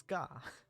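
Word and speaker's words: が: You pronounce this as Ga.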